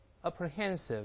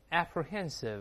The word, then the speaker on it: apprehensive: 我们大声来读一下 apprehensive，或者这么念 apprehensive，意思一样，这忧虑的。